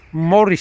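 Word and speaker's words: Maurice: And this is Morris Street, spelled with M-A-U-R-I-C, not Morris, M-O-R-R-I-S. No, spelled like Morris, M-A-U-R-I-C Street, off every street.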